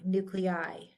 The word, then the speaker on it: nuclei: Nar to not Nar when I is at the end of the word the terminal I we pronounce it like eyeball so broni fungi nuclei pronounced like an i